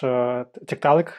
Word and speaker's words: Tiktaalik: I'd like to start with the discovery that you're most famous for, that ancient fish, Tiktaalik, I guess. I'm sure I pronounced this wrong, but still, You got it right.